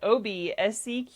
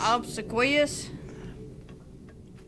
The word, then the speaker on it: obsequious: All right, it's spelled OBSEQUIOUS.